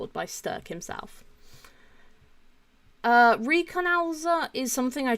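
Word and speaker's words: Stök: And yeah, that's Stoke Frederick. I think he sometimes uses Stoke, but it's pronounced Sturk because it's got the O with the 2 dots over the top of it.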